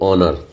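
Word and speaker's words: honour: ओ ऑनर। तो यहां पर एच का उच्चारण नहीं। एच साइलेंट है।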